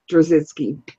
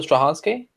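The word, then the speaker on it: Straczynski: the JMS J Michael drinski sure yeah mispronounced the name sorry I is it J Michael stransky yes yes yeah JMS he's great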